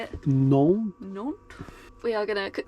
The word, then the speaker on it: Nantes: Nantes.